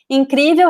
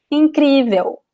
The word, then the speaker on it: incrível: In Brazilian Portuguese words, we do not pronounce the L at the end. We pronounce like an U. So it would be like something like this. Incrível.